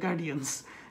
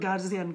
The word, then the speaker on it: guardian: গার্ডিয়ান, আমাদের সবচেয়ে common problem to দ্য গার্ডিয়ান্স, সবাই বলে তোর গার্জিয়ান কোথায়, আপনার গার্জিয়ান নিয়ে আসেন, আমরা গার্জিয়ানের সাথে কথা বলবো, এটা কিন্তু উচ্চারণ হবে গার্ডিয়ান।